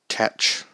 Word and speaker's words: Tetch: So Tetch from... Yes, that is how you pronounce it, right?